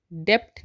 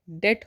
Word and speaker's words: debt: DEBT डेप्ट नहीं होता है, डेट होता है, क्योंकि इसमें बी साइलेंट हो जाता है, इसलिए हम DEBT को डेट कहते हैं, डेप्ट नहीं कहते हैं, डेट।